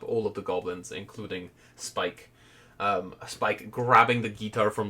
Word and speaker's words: Spikes: Okay, I think my next goblin is going to be Spikes, but the S is silent. It's a Spike.